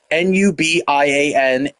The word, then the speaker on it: Nubians: Oh, and I'm pronouncing that correctly, guys. Nubians, Nubians. And yeah, if you want to be like super cool, just spell it or Noobian.